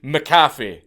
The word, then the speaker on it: McAfee: on with the video, McAfee is obviously a Scottish surname, and the way John pronounces it, McAfee, is wrong. It's an incorrect pronunciation. It's meant to be McAfee, not McAfee, McAfee.